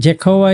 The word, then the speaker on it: Jehovah: And Jehovah is the English way of saying that.